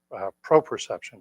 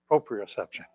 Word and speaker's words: proprioception: helps with that exercise pro perception i believe it's called proprioception oh it's close one syllable off um so that's a